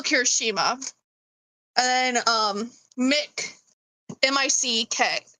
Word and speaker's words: Mick: M I C K. M I C K like Mike, but it's pronounced Mick.